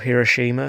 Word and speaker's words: Hiroshima: And then there's filming back to Hiroshima, or Hiroshima if you pronounce it how the Japanese do.